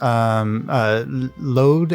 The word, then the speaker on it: Lode: It's spelled load like lodestone. Like these are LODE.